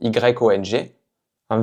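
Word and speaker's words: 用: Donc y on verbe très utilisé en chinois, c'est donc ce caractère qui veut dire utiliser. Yon. Yon. Donc ici c'est le 4è ton.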